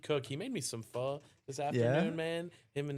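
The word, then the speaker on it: phở: Yeah, in Vietnamese it's pho. Okay. Yeah, closer to that.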